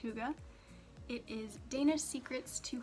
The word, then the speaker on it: hygge: And then the last 2 books I have, one is The Little Book of Hygge. And yes, I did look that up. It is pronounced Hygge.